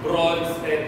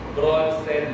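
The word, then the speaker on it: Brønsted: Si Bronsted theory. So, hindi ka mamamali dahil bro rhymes with pro.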